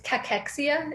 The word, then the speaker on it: cachexia: with that so it's it's cachexia is the pronunciation cachexia wasting syndrome um